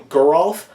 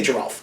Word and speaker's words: Geralf: I like Geralf. I like that too. Geralf sounds stupid. It does sound stupid, but I'm pretty sure that's even how Mark Rosewater pronounced it, which means that's the correct pronunciation if that's the way that he did it. I say Giralf, and I usually am a big stickler for pronouncing the names correctly, but I'm just so used to Giralf that's what I go with.